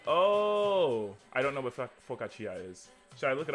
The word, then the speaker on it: focaccia: at me focus oh i don't know what focaccia is should i look it up yeah i